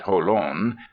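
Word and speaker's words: Jolon: 20 Pleasant miles to Holan they pronounce it holon where is the nearest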